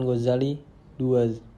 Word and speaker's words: Ghazali: Namanya kadang diucapkan Ghazali II, artinya tukang pintal benang, karena pekerjaan ayah beliau adalah tukang pintal benang wol. Sedang yang lazim ialah Ghazali.